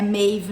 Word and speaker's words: Maeve: chama uma maeve e na verdade assim é mave né mas como eh a